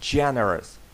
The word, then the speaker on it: generous: Generous. Звісно, буде generous. Наголос падає на перший склад.